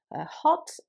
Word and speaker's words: hot: middle of words so in words such as hot in british english that o is more kind of closed it's um where it's in american english it's more like a almost like an a sound so it would be heart excuse my american pronunciation